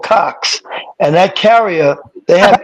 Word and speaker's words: Cox: COX. Cox. All right. Say it again. I'm sorry, I couldn't hear that. COX. Okay. COX. Cox. Oh.